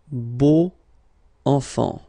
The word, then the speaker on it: beaux enfants: Ils ont de beaux enfants. Okay. And if you want to be purist, then you should put the little liaison here, the little link between the two.